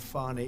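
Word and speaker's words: Fani: Tre you very unfairly she goes by the name of fonnie even though it's F she wants to pronounce fonnie she's little little French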